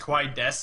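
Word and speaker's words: desu: you don't even say Sue it's just kaes is how it's pronounced in Japanese don't pronounce the the U I know we we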